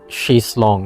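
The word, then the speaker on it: chaise longue: The ue e is silent. So, chis long is pronounced as she's long.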